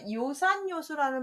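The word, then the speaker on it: 樂山樂水: 그래서 어진 자는 산을 좋아하고 지혜로운 자는 물을 좋아한다를 줄여서 요산 요수 할 때 락자라고 읽지 않고 악자도 아니고 요로 읽게 돼서 그렇게 발음이 바뀐다는 거.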